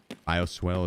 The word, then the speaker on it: bioswale: Bioswell is how it's pronounced.